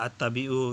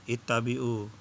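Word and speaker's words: اتبعوا: Nah, di sini bacanya dia at-tabi'u, yang benar adalah ittabi'u.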